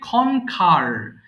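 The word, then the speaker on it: conquer: দেওয়া কনসোল কনসোল্ড কনসোল্ড আচ্ছা এরপরে আসবো হচ্ছে খনখার কনকিউয়ার বলি উচ্চারণটা হ্যাঁ এটাকে উচ্চারণ হবে খনখার হবে এবং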